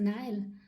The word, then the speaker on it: Nile: now he shows me the Neal I don't know how it's called in English the Nile it's the Nile sorry I pronounce it in German um and some crocod